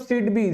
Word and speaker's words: SIDBI: सिडबी आईडी SIDBI, सिडबी ही pronounce करते हैं।